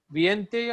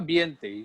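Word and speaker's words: veinte: Viente or Biente is pronunciation.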